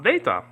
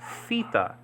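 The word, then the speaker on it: theta: let's get to it data is the th letter in Greek like in the word da okay this data letter okay is called feta in modern Greek okay fita this is called Data in biblical Greek but feta and modern Greek okay now this is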